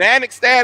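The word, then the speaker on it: Annexstad: You mentioned Anixtad is how you say his name.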